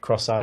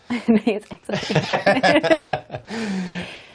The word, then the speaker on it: Xcite: This is Excite Racing. I think that's how you say it, rather than Cross-Out. It's Excite.